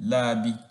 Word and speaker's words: rabi: When pronouncing such words or names, the r is replaced with l sound. For example, rubaba and rabi are pronounced as lubaba and labi respectively.